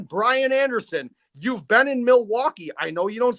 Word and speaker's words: Milwaukee: So again, Brian Anderson, you've been in Milwaukee. I know you don't say Milwaukee like the rest of us do because we don't pronounce the L here because we're too drunk to do it.